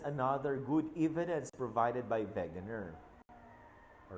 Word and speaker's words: Wegener: and other evidence provided by Wegener okay you pronounce that beginner are the mountains okay